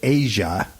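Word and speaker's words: Aja: was 7677 from Steve Dan um they they pronounced it Asia but it's spelled ASA yeah it's spelled AA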